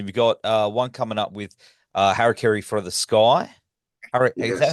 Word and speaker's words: Harakiri for the Sky: You've got one coming up with Harakiri for the Sky. Is that how Yes. you pronounce it?